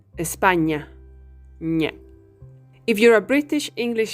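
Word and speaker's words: España: Saw with the alphabet The Sound that we produce with it very similar to the english as in parking the difference is that your tongue should be touching your palet to do the in espanya If You're a British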